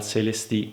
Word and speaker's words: Celestee: Anche la controparte chiusa è un modello del marchio francese, la Focal CLSD, con due E alla fine pronuncia giustamente alla francese.